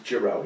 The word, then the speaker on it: Gereaux: Is that how you pronounce it? It is Gereaux, yes.